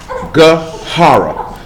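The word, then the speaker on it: גערה: It's spelled G-A''Arah. But it's pronounced with Gahara.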